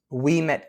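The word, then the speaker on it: Ouimet: The other absolutely beautiful spot in the Thunder Bay area that I definitely recommend people to see is Weet Canyon. So that's spelled O U I M T.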